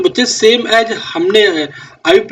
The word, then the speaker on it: IUPAC: यस बच्चे कोईकोई इसको आईयूपीएसी भी बोलता है तो आप कंफ्यूज मत होना आईयूपक इज अ करेक्ट प्रोनाउंसिएशन ठीक है तो आईयूपक